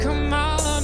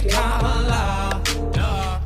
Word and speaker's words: Kamala: It's not Kamala, no, her name is Kamala. Emphasize the first syllable, it's Kamala.